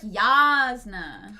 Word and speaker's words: Jasna: years into this project apparently it's like yasna Yas y of course it's yasna for pride month it